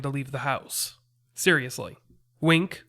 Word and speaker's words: Winc: leave the house seriously wink which is spelled winc is a service that